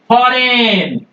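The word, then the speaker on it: foreign: के पहले अगर जी आ जाएगा उसको आप साइलेंट रखेंगे एग्जांपल देखिए फॉरेन ये देखिए जी के पह एन के पहले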